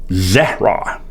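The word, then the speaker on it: זרע: You know, that Hebrew word there for seed, by the way, is uh zera, is how it's pronounced.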